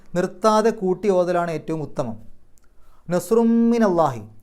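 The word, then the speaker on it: نصرٌ من الله: കൂട്ടി ഓതലാണ് ഏറ്റവും ഉത്തമം നസ്റും മിനല്ലാഹി അവിടെ നസ്റുൻ എന്നുള്ളിടത്ത് തൻവീൻ വന്നു ശേഷം മീം ആണ് മീമിന്റെ മുമ്പ് തൻവീൻ വന്നാൽ ആ തൻവീനിനെ മീമിലേക്ക് ലയിപ്പിക്കുക മണിക്കുക ഇത് അപ്പൊ നസ്റും മിന ആ മീമിന് ശദ് കൊടുത്തിട്ട് മണിക്കുന്ന പോലെ ചെയ്താൽ മതി മിനല്ലാഹി വ ഫത്ഹുൻ ഫത്ഹുൻ എന്നുള്ളിടത്ത്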